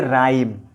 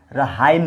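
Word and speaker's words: rhyme: आर के बाद एच, देखिए आर के बाद यहाँ पर एच आ रहा है ना, तो इसको बोलेंगे राइम, रहाइम नहीं, एच का उच्चारण नहीं किया जाएगा।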